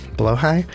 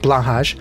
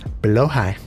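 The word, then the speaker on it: Blåhaj: blow hide low high by the way is the correct way to say below High not blah although blah is very funny and very enjoyable and I still like saying blush sometimes but it is below High blow high are you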